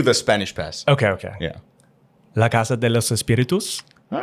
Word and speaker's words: La Casa de los Espíritus: I moved from Mexico, you know, Latin America, right here represent La Casa de los Espíritus, you know. And I'm glad you pronounced the actual title, the original Spanish title, because I certainly...